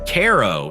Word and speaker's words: Cairo: Cairo, pronounced Caro, sits at the confluence of the Mississippi and Ohio rivers.